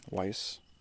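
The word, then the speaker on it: Weisz: crush on Rachel Weiss like that's how you say her name Weiss yeah I think when that movie came out I was like 11 or 12.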